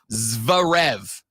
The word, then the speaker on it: Zverev: It's a Z and a V next to each other.